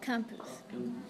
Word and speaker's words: campus: So the first syllable, CAM, has one consonant after the vowel, which makes the vowel short.